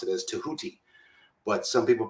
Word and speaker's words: Tahuti: His name is I prefer to pronounce it as Tahuti, but some people pronounce it as Didgehuti, with a DJ rather than just TEH, Huti, UTI.